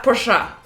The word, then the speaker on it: Porsche: Porsche cuz it's German. Exactly. They don't say Porsche. Exactly. No, some people say Porsche. Porsche. Porsche.